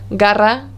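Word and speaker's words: garra: or u it makes the same sound as the letter g in english the g sound for example the word gara which means claw or the word goro which means hat ga go it's a g sound the second sound for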